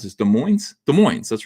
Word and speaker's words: Des Moines: How do you pronounce this? Des Moines? Des Moines, that's right.